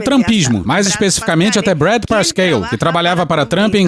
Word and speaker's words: Parscale: E eu fui pesquisar a da pronúncia do nome do cara e vi uma entrevista dele mesmo falando Brad Parscale.